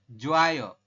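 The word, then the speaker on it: 좋아요: Kita bacanya bukan jo ayo ya, tapi kita bacanya langsung menjadi apa? Jadi jo ayo. Kalau dalam Hangulnya seperti ini, langsung jo ayo kayak gini. Yang berubah apa ya, Robon? Yang berubah adalah Iya. ya, hiyatnya hilang ya.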